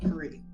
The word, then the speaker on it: Kari: Kari, okay. Yeah, Kari. Like Korean.